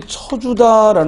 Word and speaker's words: 쳐주다: 뭐가 돼요 쳐주다 근데이 쳐주다 말을 왜 자꾸 처로 하느냐 발음이 주다는 발음이 안 되죠 우리말에 저저 처는여 발음이 안 됩니다 그래서 발음은 어떻게 해야